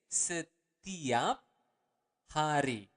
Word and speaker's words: setiap hari: Every day is setiap hari. Okay, let's repeat it again slower. Setiap hari. Again, you want to pronounce the word R clearly.